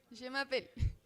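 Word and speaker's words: je m'appelle: Yo me llamo en francés yemapel.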